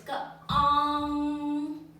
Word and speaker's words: 綱: And it pronounces like this. Gang.